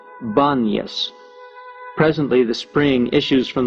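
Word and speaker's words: Banias: god Pan was worshiped the inability of most Arabs to pronounce the P is the reason the place of pan is called baniyas presently the spring issues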